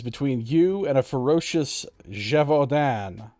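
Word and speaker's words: Gévaudan: and a ferocious javodan i have it on good authority that it's pronounced something like that apparently it's a french thing your sudden i mean i'm sure i pronounced it wrong but i pronounced it closer to write than if i just said like gavaden which is how i used to pronounce it before yep that's what my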